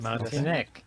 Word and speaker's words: Martinek: This is Ben Martinek. Did I Ben- say it right? Yes, you did. Martinek.